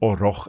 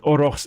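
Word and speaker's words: aurochs: Unfortunately, orox are extinct and orox I always pronounced it orox as the plural and orro as the singular. But orox is both singular and plural.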